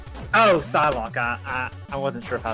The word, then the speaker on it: Psylocke: So I thought it was pronounced like Cyclops. Oh. Psylocke. Oh, Psylocke.